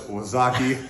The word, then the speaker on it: Wazaki: If you don't know how that's spelled, it's Wazaki, W-A-Z-A-K-I.